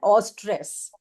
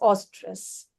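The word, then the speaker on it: eustress: उसको हम बोलते हैं ऑस्ट्रेस। उसकी स्पेलिंग है ए यू ई यू एस टी आर E double S ऑस्ट्रेस and negative स्ट्रेस को हम बोलते हैं डिस्ट्रेस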